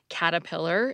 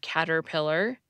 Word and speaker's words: caterpillar: we pronounce our R's, people still tend to drop an R if it's in the middle of a word and comes before another syllable that has an R. That's why you hear surprise instead of surprise, adversary instead of adversary, caterpillar instead of caterpillar, and particular instead of particular.